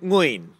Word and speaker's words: Nguyen: kan lu tahu kan kalau orang Vietnat namanya semuanya nguyan kan ternyata dibacanya nguin.